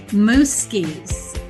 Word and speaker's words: Mooskies: Mooskies. Did I say that right? You did. Yes. You go, girl. It's spelled very different, but she said, think of a moose skiing.